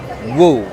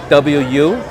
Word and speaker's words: Ng: of uh Mr in that's how I pronounce it NG you know uh if it's pronounced differently different areas of China that sort of stuff you know like some people pronounce it woo Wu because the NG is